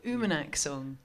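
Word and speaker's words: Uummannaq: spelling of it but I just wanted the pronunciation was always driving me crazy it's called Oommen axle and uma neck is a pretty incredible settlement in the Arctic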